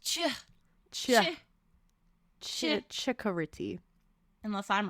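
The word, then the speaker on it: Ciccoritti: That's an Italian name, so it'd be Chicoriti. Chicoriti. It's Okay. C-I is pronounced ch. Chikoriti.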